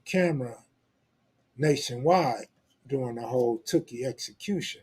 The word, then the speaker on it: Tookie: people in the South talking about Tukey. I'm glad they all got it right after they start seeing brothers from LA come on and pronounce it Tookie, right?